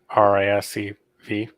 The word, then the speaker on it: RISC-V: Oh, it's 5. You know what his answer is going to be? What? RISC-V.